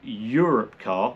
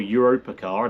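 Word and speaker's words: Europcar: And then Europe car or Europa car, I don't know how to say it. I think it's Europe. Europe car, I think.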